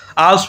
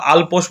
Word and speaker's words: আল্পস: সঠিক উত্তর হবে আল্পস পর্বত। ঠিক আছে, আল্পস পর্বত। ঠিক আছে, অনেকে আবার আলপোস বলে, তো সঠিক উচ্চারণটা হবে আল্পস।